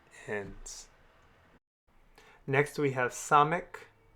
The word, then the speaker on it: samek: Next, we have samek. Samek has an S sound, as in the word sit.